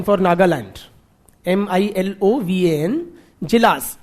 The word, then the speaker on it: Djilas: N for Nagaland, MILOVAN, Jilas, DJ, हाँ D silent था थोड़ा, Milovan Jilas, MILOVAN, DJILAS, क्या हो गया ना?